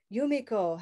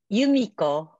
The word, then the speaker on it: Yumiko: How about Yumiko? Hello. Hi. Can you say your name for us? Yumiko.